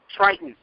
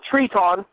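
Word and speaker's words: Tritón: actual legitimate Mexican Luchador Triton no Treon it's the Spanish pronunciation or the he does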